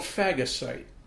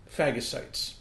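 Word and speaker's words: phagocytes: And it's called fagasite and it's spelled ph h a g o c y tes. Fagasites.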